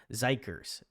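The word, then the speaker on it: xikers: It just was it was um and Harmony says, "Oh, it's pronounced Zikers."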